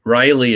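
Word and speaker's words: Riely: history it's actually a and it's spelled riley as r-i-e-l-y although the hint that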